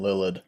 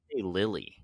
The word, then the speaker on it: Lilidh: I was saying Lilith, I think. They say Lily is what it sounds like. Really? Which is crazy. So yeah, the so DH on the end is just like a waste of space.